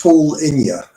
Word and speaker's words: Paulinho: Paul, it's Paul Inya. Paul, spell it Paul and then INHA.